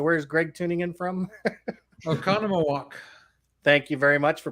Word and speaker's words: Oconomowoc: that uh so where's greg tuning in from oconomowoc thank you very much for pronouncing that so i didn't have to embarrass